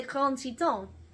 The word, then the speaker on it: Grand Teton: We are going to look at the Grand Tetons, or les Grand Tetons, as they are properly pronounced.